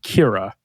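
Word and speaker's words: Ciara: why would it um Sia is an Irish name and is pronounced Kira Kira Kira okay the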